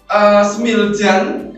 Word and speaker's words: Smiljan: Nah, di mana Nikola Tesla ini dilahirkan di Smiljan, ya, bacanya Smiljan atau Smiljan ini.